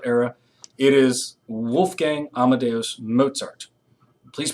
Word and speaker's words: Mozart: of the classical era it is Wolfgang Amadeus Mozart please pronounce his name correctly Mozart I had a college professor a philosophy philosophy